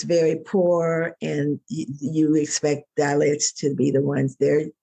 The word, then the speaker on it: Dalits: This makes me think about, I believe you're working with some people from India, the dalits. Am I pronouncing that correctly?